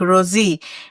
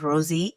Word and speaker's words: Rozzy: The first time I met Rosie and I was trying to pronounce her name and since I'm Kenyan I went like Rosie and she was like no my name is Rosie and I was like nice.